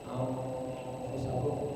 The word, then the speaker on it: anfusakum: Peliharalah, jagalah, selamatkanlah anfusakum, diri-diri orang yang beriman. Bapak-bapak, ibu-ibu, ini tulisannya ini pakai nun, tetapi karena bertemu dengan fa, nunnya lenyap menjadi ng, dibacanya ng eng. Anfusakum, namanya ikhfa.